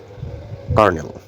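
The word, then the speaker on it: colonel: আসলেটি উচ্চারণ বোঝানো হয়েছে সি এইচওয়র থেকে কোয়ার কর্নেল কর্নেল উচ্চারণটা সিও এল ও এন এল এর উচ্চারণ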